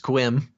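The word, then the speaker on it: Sequim: chat that uh a it's pronounced squim oh that way you're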